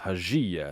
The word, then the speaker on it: حجي: So you can actually see here too, like the 1 syllable, 2 syllable, 3 syllables. Hajiya. And this is the peak of the pitch and the intensity. So that's the stress syllable. So Haji. Let me go to Haji.